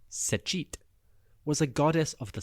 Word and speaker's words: Satet: Now Sateet or more accurately pronounced Sich was a goddess of the south.